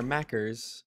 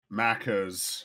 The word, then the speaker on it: Maccas: you call it there mackers maccas not macros yeah mackers you mispronouncing it macaws maccas yeah macca's leave his little American